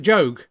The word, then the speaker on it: Job: Yeah, you pronounce it Job.